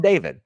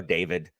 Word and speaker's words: Dafyd: Derval's name is spelled Derfel. So I'm like, you know what? I'm calling this guy David. And I called him David because you know what? That F is a V.